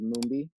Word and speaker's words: Mumbi: properly yeah yeah so the first name is mumbi and then the last name is yeah